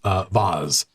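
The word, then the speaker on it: Voz: And the dwarf that runs the place, Vaz, V-O-Z, walks up, not V-A-S-E, pronounced in a posh accent, but V-O-Z comes over to your table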